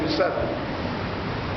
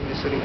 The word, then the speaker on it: مصر: ممالک کے اساتذہ یہ مصری، اساتذہ یہ مصری ہی، پورے تلفظ میں مصری، مصر مصر مصری مصری مصری، ان کو زبر سے استعمال ہے، مصری مصری۔ قرآن میں